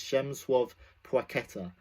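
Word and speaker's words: Przemysław Płacheta: But you pronounce it, I do believe, like this. If there are any Polish people, please let me know if I got it right. I do believe it is Przemyslaw Placheta.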